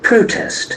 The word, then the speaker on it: protest: again we listen that protest protest protest when we convert that into verb you can see the action for the second syllable protest protest that's a